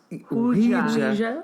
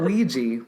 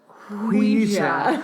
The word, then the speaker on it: Ouija: It's pronounced Ouija. Ouija. Not Ouija, but Ouija.